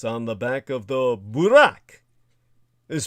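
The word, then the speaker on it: Buraq: the seven Heavens on the back of the Burak is spelled b r a q in the anglicization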